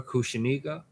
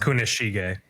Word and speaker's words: Kunishige: It was with Rokuhira Kushiniga? Yeah, Chihiro's dad had all the swords. Kushiniga? Yeah, I think we're pronouncing It's it. Kunishige.